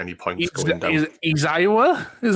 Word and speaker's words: Aizawa: Is Izawa? Is how you pronounce his name? Izawa? Aizawa.